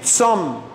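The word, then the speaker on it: צום: El ayuno en hebreo moderno se dice tzom.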